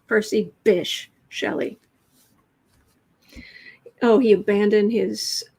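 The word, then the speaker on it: Bysshe: b-y-s-s-h-e or something and i've always found it weirdly appropriate that it's pronounced bish does not say how it's pronounced percy bish shelly oh he abandoned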